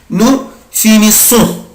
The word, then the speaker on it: finissons: nous finissons، nous finissons. انا بنطق الاي اس اس او ان اس اي سون.